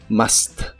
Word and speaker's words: must: en inglés es must la u se pronuncia como una a normal de español must must cuando lo usas junto